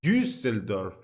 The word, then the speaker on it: Düsseldorf: Wait, it's Düsseldorf, right? The right pronunciation, the umlaut on top of the U.